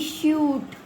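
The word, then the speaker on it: shoot: सबसे पहले यहां पे मैं ना बड़े ऊ की मात्रा बता रही हूं। T double O टू एस H double O टी शूट जी are double M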